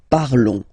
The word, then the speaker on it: parlons: Remember, final S is not pronounced, okay? And then this on together, they will give you the sound on, okay? Nous parlons, all right?